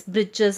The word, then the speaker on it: breeches: For fun, the writer, that is the author, has mentioned here as breeches as a short trouser to rhyme with the word witches.